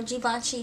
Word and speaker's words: Givenchy: a Givenchy shirt or Givenchy shoes, because that's how you say it. It's not Givenchy, it's Givenchy.